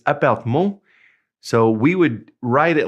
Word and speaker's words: appartement: And now in French, the word apartment is almost the same. It's appartement.